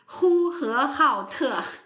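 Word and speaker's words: Hohhot: And a lot of the well-known cities, there's Erdos, there's, again, pardon my pronunciation, Hohat, or how do I say it? Huhehaote. Very nice, and that's why we collapse it if we're lazy English speakers.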